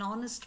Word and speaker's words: honest: The letter H is there but it doesn't speak. So we say an R. An honest man.